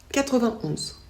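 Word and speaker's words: quatre-vingt-onze: On ne prononce pas le « et » ici. On dit 81, 91.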